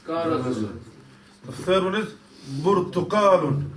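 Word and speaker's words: برتقال: The third one is Burtuqalun. Burtakalun. Remember in Arabic you don't have pe or pa or whatever.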